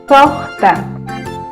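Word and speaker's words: suqta: Sohta, sohta. Sohta, hualpacuna, 6 gallinas. Sohta. Se escribe así como está aquí con la U, se pronuncia con O.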